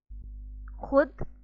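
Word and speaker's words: خود: Sometimes in a word we write letter vav but we don't pronounce it. And that is known as vav madula. Misal ke taur pe, for example, khud, khahish, khush, khab, खामखा, दस्तरखान, खुशी।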